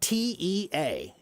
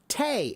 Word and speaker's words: tea: The word tea is now spelled T-E-A, and it's pronounced tea. But before it was tea, it was pronounced tay. It was spelled T-A-E, not T-E-A. And then before it was tay, it was pronounced che. And before it was che, it was pronounced chai.